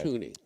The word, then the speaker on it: Thuney: He had Joe Thuney. Oh, really? And he won. Thuney? Thuney. Is that how you say it? Thuney. Okay, Thuney. Tooney. Okay. Tooney.